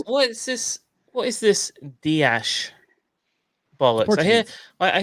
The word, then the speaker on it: Dias: i think so because you can't say diash and then in the next sentence bernardo it's dias and bernardo bernardo or it's diaz and bernardo it's ceos and bernie